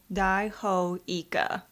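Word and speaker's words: イカ: squid okay what is it okay it is pronounced Ika literally giant squid thank you for educating us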